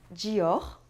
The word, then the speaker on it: Dior: em francês mas atenção às vezes quando uma palavra se termina em R Nem sempre mas às vezes você deve pronunciar o resto é o caso de Dior e Accor aquela famosa regionais quando